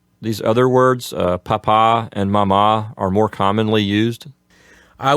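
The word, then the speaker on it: mamá: remind our listeners that the accents on the last syllable of Papa and Mama mm-hmm we don't want anyone out there to say Papa or mama because that's not the right way to pronounce it right yes now on the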